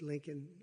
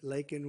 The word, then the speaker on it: Laken: lak Riley you know Laken very well now and after months of prodding him Biden couldn't pronounce her name he said he said Lincoln Lincoln Riley and Lincoln Riley is